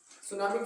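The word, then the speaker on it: tsunami: सुनामी क्या है? सुनामी एक जापानी वर्ड है। कौन सा वर्ड है? जापानी वर्ड। जापानी शब्द है। इसे जोड़कर टी साइलेंट लगता है।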